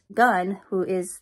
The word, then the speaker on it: Gunn: And so they're scanning Earth, and Gunn, that's how you say his name and not alien, scanned